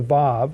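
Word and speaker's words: וָו: a onlet conjunction the VAV it's spelled w a w but pronounced VAV prefixing that one letter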